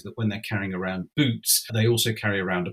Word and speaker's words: Bute: And it looks as though Bute at this time is pronounced Boot, because Bute is a very unpopular figure.